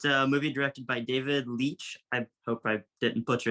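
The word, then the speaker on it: David Leitch: my list um it's a movie directed by David Leach I hope I didn't butcher yeah you pronounced it right uh and it's bullet train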